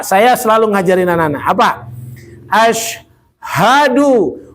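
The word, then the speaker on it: أشهد: Ashadu. Bukan asyaddu ya. Salahnya asyaddu itu nanti amat sangat artinya asyaddu itu nanti kita belajar di terjemahan Quran nanti lihat di kamus asyaddu.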